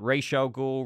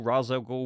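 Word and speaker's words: Ra's al Ghul: League of Assassins and that's where he met racial ghoul razogo whatever you want to pronounce it Talia and sometimes is when we're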